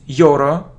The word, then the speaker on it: euro: look at this word it isn't Euro or yo no it's look your your EUR Ur it's the sound y y y y EUR EUR it isn't y or Euro not Euro euro look at this